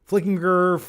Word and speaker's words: Flickinger: Everyone mispronounces my last name. Flickinger, it's been mispronounced my entire life. It's a jern, not a gur.